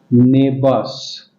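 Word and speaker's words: neighbours: लड़की के द नेबर्स नेबर्स देखिए आर यही य अकेला है तो इसका उच्चारण न के बराबर होगा द नेबर्स एंड द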